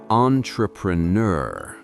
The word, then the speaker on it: entrepreneur: If you swallow that final sound, you lose the authority. If you make it too textbook, like entrepreneur, you lose the sophistication.